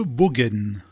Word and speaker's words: Bogen: Arthès s'est jumelé avec la ville de Bogen. C'est bien, Bogen, c'est bien prononcé, Jean-Michel.